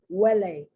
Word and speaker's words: huele: Huele, huevo, hueso, huecar, huelga. Do you notice the beginning of the syllable is that what sound, but the H is there because that's the root of the language, okay?